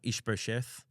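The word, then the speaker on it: Ish-bosheth: so uh so vers 7 one day uh ish brth did I say it right that time you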